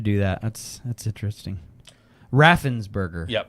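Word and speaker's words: Raffensperger: I thought you were saying Rafenberger. What did I say? I think that's what you were saying and I was saying it wrong in my head and it's Raffensburgger, right?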